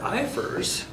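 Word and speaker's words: IFRS: experience research and development when it happens under iers that's how you pronounce that iers under iers you can start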